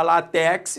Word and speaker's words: látex: raça sílaba tônica né se eu falar látex aí deu rolo não é látex Então se é látex a sílaba tônica concentre é lá é uma paroxítona paroxítona terminada em x